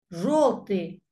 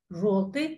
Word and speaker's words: желтый: Желтый. Желтый. Пишется ё, говорим о.